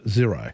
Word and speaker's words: Xero: But pronounced zero.